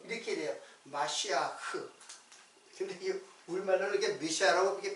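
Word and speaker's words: משיח: 메시아요 메시아 자 그러면 메시아는 이제 그 히브리 발음으로는 마 마 마시아 흐 이렇게 돼요 마쉬아흐 근데이 우리말로는 이게 미시라 이게 편하게 쓴 것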